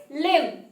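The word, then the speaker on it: limn: is lim and it is a verb the pronunciation is lim in english this word means to draw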